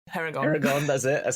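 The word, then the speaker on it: Harengon: Herringon, that's it, that's how you pronounce it.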